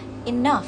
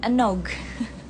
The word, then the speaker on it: enough: Nah, yang kedua ini pengucapannya enough. Maaf ya, background-nya agak berisik. Untuk British, enough. Enough. Jadi bukan enog. Bukan enog, bukan enog, tapi enough. Kalau American agak ke nekannya, jadi enough. Enough.